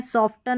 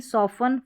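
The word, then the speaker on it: soften: सॉफ्टन नहीं सॉफन।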